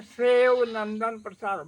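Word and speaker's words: Sheo Nandan Prasad: YouTube के उस channel है, नाम है शिवनंदन प्रसाद राय, उसका उच्चारण है सेव नंदन प्रसाद, मतलब SHEO, सेव नंदन प्रसाद राय का है चैनल का नाम।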